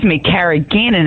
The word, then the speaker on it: carrageenan: Now, what about carrageenan? Because again, that has been getting a bad rap. Well, it's actually pronounced carrageenan, and it is produced from red seaweed.